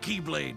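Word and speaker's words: χ-blade: means the x blade it's just pronounced like keyblade even though it's just one keyblade ah it's a series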